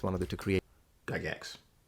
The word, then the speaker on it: Gygax: Gygax. It's pronounced Gygax.